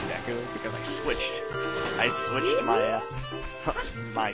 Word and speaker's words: Deku: But see, when I was growing up, for some reason, I would always pronounce any of the Deku words as Dooku.